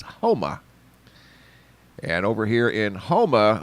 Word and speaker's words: Houma: over in uh homa i pronounced it huma earlier and i apologize to that it's homa and over here in